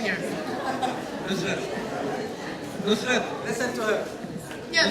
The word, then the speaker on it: Nusret: I want a real nice pronunciation here. Nusret. Listen to her. Yeah, Nusret, yeah.